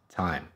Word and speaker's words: thyme: green stuff thyme it's spelled thyme but it's pronounced thyme over here I have an apple I swear